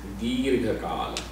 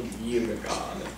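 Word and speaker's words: दीर्घ काल: So the first thing is Dirgha Kaal. You know, and then Dirgha, I am really making it Dirgha. Pronunciation also Dirgha Kaal.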